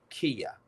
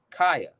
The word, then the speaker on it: Kaya: Her name is Kia. Did I say it right? Kaya, Kia. It's Kia. I think it's Kia, Kaya. No. I'm sorry. My mistake. Kaya. Right, Kaya. Yeah, Kaya.